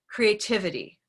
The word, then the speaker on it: creativity: i take a word i first think where's the stress and what color is it so if i take a word like creativity creativity one of my favorite words we can use our hand of course because it'll help us notice ready let's throw it out three times creativity creativity create great so by throwing it